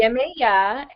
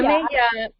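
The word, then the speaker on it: Yemayá: And I'm really upset because I never was introduced to Yameye. Is that how you say it? Yemeya, and Yeah. Yemeya, there's many different versions.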